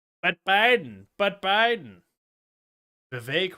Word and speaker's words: Vivek: that Biden but Biden Vivek rhymes with cake um okay so that's